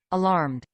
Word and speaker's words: alarmed: Alarmed. Alarmed. Sí se escucha, Yes. Miss. Excellent. You hear the ending, the correct pronunciation of that one with D, right?